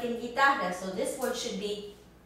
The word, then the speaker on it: guitarra: Also, when it comes after a G in these combinations, you and I, as in the word guitarra, the guitar, guitarra. Now you don't hear the U in here.